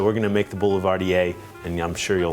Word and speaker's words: Boulevardier: I spent tons of time studying and I came across very early on the whiskey Negrroni called a Boulevard Deer or so I thought.